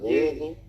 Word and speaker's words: Louisville: I feel like you got one too many syllables.